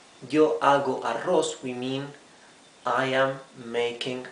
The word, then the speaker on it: arroz: here in green rice remember the double r means you pronounce it the hard r when we say yo ago arroz we mean i am